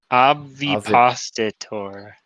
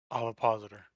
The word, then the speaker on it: ovipositor: I don't know how to pronounce this word. Obvipositor. Ovipositor.